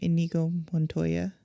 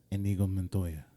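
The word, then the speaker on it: Inigo Montoya: I liked I'm going to mispronounce his name. Enigo Mononttoya. Enigo Montoya.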